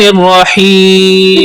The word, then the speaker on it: الرحیم: پڑھیے۔ بسم اللہ الرحمن الرحیم۔ بسم اللہ الرحمن الرحیم۔ الرحمن اور الرحیم، یہاں پر ہا استعمال ہو رہا ہے جو کہ حلق کے درمیان والے حصے سے ادا ہوتا ہے۔ ہا اور دو چشمی